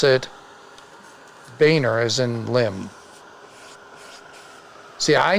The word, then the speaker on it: Boehner: name but the Canadian branch of the family pronounces it bugner and we pronounce it Boehner as in limb see I knew it from